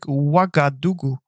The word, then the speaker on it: Ouagadougou: Yeah, it's not even a Q, it's a O. It's like Ouagadougou.